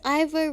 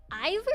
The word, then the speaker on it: Ivo: His full name is Ivo Robotnik, or Dr. Ivo Robotnik. Ivor? His name's Ivor? Ivo. Oh, eyeball? Ivo. You didn't write it! I-V-O. Ivo. Sounds like eyeball.